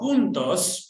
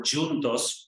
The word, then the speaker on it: Juntos: So Juntos, which means together in Spanish, or Juntos, also means together in Portuguese, just different pronunciation, came about during the pandemic.